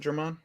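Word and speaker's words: Germán: Is it German? Yeah, I heard them pronounce it like Herman, I think G silent.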